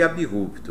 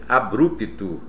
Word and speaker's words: abrupto: delas é o abrupto sempre foi abrupto É engano quem diz ou quem quem ainda diz ou dizia abrupto É engano Portanto o desastre aconteceu